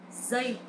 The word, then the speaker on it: giây: This sound is not like J or G sound in English, but is similar with Z sound. Giây.